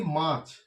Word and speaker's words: মাছ: আবার দেখো যদি বলি মাছ, মাছ তো আমরা সবাই খাই, এই যে মাছ, মা ছ এরকম, তাহলে উচ্চারণটা এইরকম নয়, মা ছ এরকম নয়, তাহলে মাছও হয়ে যাবে, ঠিক আছে? কিন্তু এটা আমরা বলি মাছ, এখানে একটা হসন্ত হওয়ার কথা, কিন্তু এই হসন্তটা আজকাল উঠে গেছে, ব্যবহার নেই।